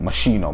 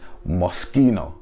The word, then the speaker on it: Moschino: up in london and for years we said moschino mashino mashino loved it that's what we called it right i married an italian and she told me no no it's moschino right moschino right and